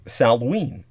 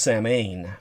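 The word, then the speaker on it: Samhain: would think it's pronounced saman but it's not it's pronounced salween because anything in the celtic language is pronounced completely differently from how it's spelled and counterintuitively by all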